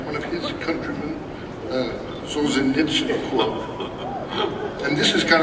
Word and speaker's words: Solzhenitsyn: It's a quote of Solzhenitsyn. Am I pronouncing that right?